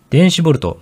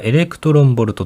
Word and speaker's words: eV: れてありますこの EV という単位は電子ボルトまたはエレクトロンボルトと読みます電子 1 個は